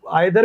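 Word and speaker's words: either: बट अब जो है वो आइदर भी बोलने लगे हैं अमेरिकन लोग भी, वो ब्रिटिश लोग भी, और ईदर भी बोलने लगे हैं। ब्रिटिश आइदर ज्यादा बोलते हैं, ईदर कम बोलते हैं। जो अमेरिकन हैं वो ईदर जो है वो ज्यादा बोलते हैं, आइदर कम बोलते हैं।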